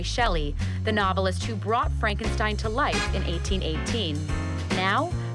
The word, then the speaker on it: Frankenstein: My name is pronounced Frankenstein. If you say so.